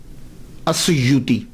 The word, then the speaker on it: السیوط: Pronunciation کیا ہے، تو وہ کہتے ہیں السیوط، الف کے اوپر زبر، سین کے اوپر پیش، یا کے اوپر پیش، واو ساکن، سیوط۔ تو جب یہ چل